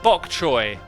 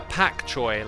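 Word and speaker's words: pak choi: ramen or something then raw man raw it's pronounced raw man you mean bok choy no no pak choy like uh p a k c h o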